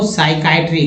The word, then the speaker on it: psychiatry: Neuro साइकाइट्री पी से start होगा, PSYCHIATRY, साइकाइट्री, neuro साइकाइट्री।